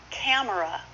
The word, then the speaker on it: camera: Camera. Should be camera.